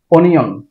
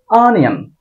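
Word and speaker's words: onion: এটাকে আমরা বলি অনিয়ন। এটার শুদ্ধ উচ্চারণ হবে আনিয়ন। আয়ের উপর একটু টান দিতে হবে, চাপ দিতে হবে, আনিয়ন, আনিয়ন। বাজার থেকে পেঁয়াজ আনিয়ন, এই টাইপের উচ্চারণ।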